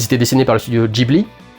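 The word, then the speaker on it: Ghibli: dessiné par le studio Gibly. J'ai toujours l'habitude de dire Gibly. Je suis en train d'esser de m'habituer à dire Gibly parce que c'est comme ça qu'elle se prononce en japonais.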